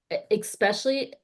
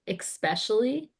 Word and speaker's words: especially: but when people are consistently late or especially also, okay, let me stop myself real quick. I say especially with an X, Uh-huh. and you're not supposed to say it like that. It's especially like espresso, you know?